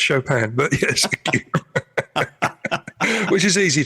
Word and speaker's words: Chopin: And they said, they looked at the record label and said, "Oh, we're listening to some Chopin." And they said, "Well, it's actually pronounced Chopin, but yes."